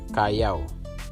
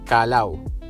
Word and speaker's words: Callao: Yung lugar na ito ay Callao. So kung babasahin mo siya sa atin is Calao. Pero Callao, Municipalidad de Callao. Silent L siya.